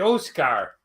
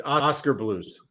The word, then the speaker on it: Oskar Blues: when i i said oh scar oh scar how does he pronounce it oscar oscar but it's a k it's oscar blues oh i have no idea i always call it oh scare oh scar that's great